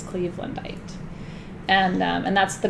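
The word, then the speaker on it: cleavelandite: about Anita is um Cleveland height uh and and it's spelled just like it sounds Cleveland bite and um and that's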